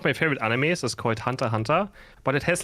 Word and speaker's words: Hunter x Hunter: bro can you stop it's just Hunter Hunter you don't even say the X and I didn't know